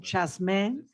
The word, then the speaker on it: Jasmin: uh jasmine and my name is is actually pronounced jasmine and i'm very happy